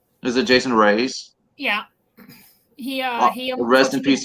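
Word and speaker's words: Raize: I'm not sure how to pronounce his last name. Is it Jason Reyes?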